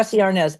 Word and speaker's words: Arnaz: Desi Arnaz, and that was really because my mother pronounced it that way. There were people who pronounced it Desi.